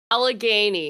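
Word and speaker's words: Allegheny: The Oh, the how do you pronounce it? Alleg Alny County. Alagany. Alagany County and everything like that.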